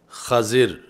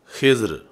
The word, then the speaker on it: خضر: مجھے بھی سکھائیں۔ تو یہ لفظ خضر فتح خا کے ساتھ اور کسرہ ضاد کے ساتھ، اور ایسے ہی خضر یعنی دوسرا اس کا تلفظ خضر ہے، خضر اور خضر، یہ آپ کا لقب